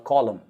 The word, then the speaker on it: column: pillar is called a column so column it's not called lumina m no n pronunciations n is silent all right this is